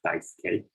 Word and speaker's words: Daisuke: My name is Daisuke. It's pronounced Daisuke. just in case you're not from Japan, you've never seen this name before.